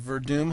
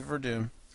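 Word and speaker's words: Werdum: Yeah, he broke down the Verdum Hunt fight, gave it to Verdum, which I might do too.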